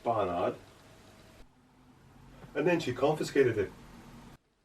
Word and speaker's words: Barnard: But I think it's pronounced Barnard.